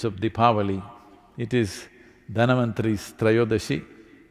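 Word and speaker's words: Dhanvantari: the pavali it is dhanavanthari's not indian people must connect you know don't go on clipping away one one syllable and come dhanavantri becomes done becomes terror don't keep clipping it away so here we are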